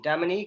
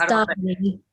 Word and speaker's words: Damini: Have I said it right? Be honest, because like... No. But you're close enough. Closer than most. It's Damini. Please correct me. It's Damini. Damini.